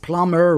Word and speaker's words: plumber: The honest plumber wrote a receipt. The silent letters are H in honest, B in plumber, W in wrote, and the P in receipt.